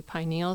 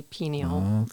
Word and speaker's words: pineal: it depends some say pineal some say pineal yeah so it is interchangeable like pineal pineal or pineal yeah probably CU I